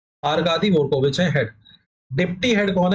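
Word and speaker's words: Аркадий Дворкович: डी वरको विच है D silent रहता है वो are Kadi रविच head deputy head कौन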